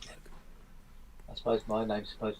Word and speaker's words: Moog: Yeah, it's Mog. I suppose my name's supposed to be pronounced Spoon.